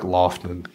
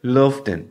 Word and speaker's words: Loftän: sure that I ask, but it looks like Loftän. But it's got an umlaut because one of the members is German. No, it's not an IKEA couch. No. It's a band. Loftän.